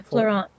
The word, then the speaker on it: Florent: Her and Florent, right? Or is that how you pronounce it? Yes. Yeah, Florent. Florent. I thought it was a French one.